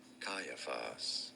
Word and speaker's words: Caiaphas: Verse 57, "And those who had laid hold of Jesus led him away to Correct pronunciations as Caiaphas. Caiaphas the high priest where the scribes and the elders were assembled.